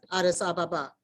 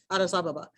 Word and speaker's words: Addis Ababa: And just so you know, in the Ethiopian language, there's no accents on any syllables, so everything is equalized, Addis Ababa, Addis Ababa.